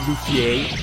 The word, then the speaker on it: Luffy: It's pronounced Luffy.